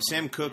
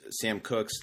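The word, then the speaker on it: Sam Koch: Sam Cook is a Ravens punter. And speaking of last names being spelled like they're not pronounced, Sam Cook's last name is spelled Koch.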